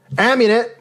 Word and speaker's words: Amunet: That's how you pronounce it. Amunet, or Amunet, was a primordial goddess in ancient Egypt religion.